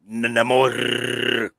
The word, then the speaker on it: Namor: And then of course the proper pronunciation of Namor as Namor. Yes. Rolling R.